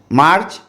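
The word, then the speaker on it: Mars: हम फरवरी बोलते हैं मार्च मार मार एम ए आर S French में मार बोलते हैं एस साइलेंट है और इंग्लिश में मार्च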